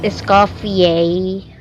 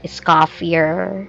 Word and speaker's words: Escoffier: So, it's pronounced escafier, not escafier.